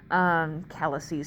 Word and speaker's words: calyces: Because it's a weird Latin word where they don't like X's and don't treat them like regular letters, the plural of calyx is calyces, which is calyces, C-A-L-C-Y-C-E-S, basically.